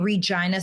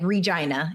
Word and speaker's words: Regina: I'm from the prairie in Regina, Saskatchewan, Canada. Right. And the prairie, like Regina is the city that I'm from. The slogan is the city that rhymes with fun.